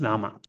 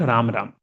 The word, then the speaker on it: Rama: It's Rama. Sanskrit. It's not Ram Ram. Hare Krishna, Krishna Krishna, Hare Hare, Hare Rama, Rama Rama, Hare. Because Sanskrit's syllable. In Hindi, you call it Ram.